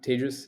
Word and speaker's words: Tejas: for having me I'm tagious um that's I tell people it's pronounced like contagious um it's easier to